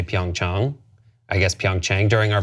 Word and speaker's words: Pyeongchang: The correct pronunciation is Pyeongchang. Chang, like when you go see your doctor, Pyeongchang, Pyeongchang, Pyeongchang.